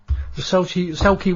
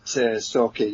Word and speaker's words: Sauchie: Is it actually the Sauchie one? Sauchie, is it? Yes. I can never pronounce it right. I always have trouble, don't I, Julia? A lot of people find it difficult to say that, Sauchie, you know, but yeah, I mean, it is